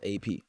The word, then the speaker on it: APXO: My name is written APXO, but it's actually just pronounced AP.